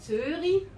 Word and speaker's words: Zürich: Die Normalschweiz sagt Zürich, aber wenn einer Zürich sagt, das ist ein Schweizer. Weil das CH wird einfach nicht ausgesprochen.